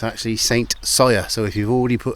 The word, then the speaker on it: St Cyr: it says so on that board it's actually Saint saw so if you've already put that comment in